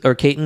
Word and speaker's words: Caton: This kid, Miles Caton, I believe, Caton is the way I believe you say his name.